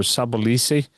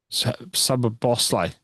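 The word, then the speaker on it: Szoboszlai: I I I don't know if you saw that game and I certainly can't pronounce the goal scorer. Sabisi is Sab Bosl.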